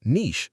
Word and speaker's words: niche: You can say, "It's a bit niche, but I really enjoy it." Niche, n i c h e, pronounced "neesh" in natural English.